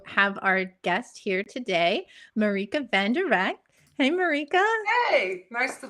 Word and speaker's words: Marieke van der Rakt: So my name is Marieke van der Rakt, which is Dutch. That's why I pronounce it slightly different, but I thought you did a really good job, Amber.